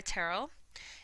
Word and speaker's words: Terrell: That is because that is my middle name, but I have always gone by Terrell. It's pronounced like Carol with a T, even though it's spelled a little funny.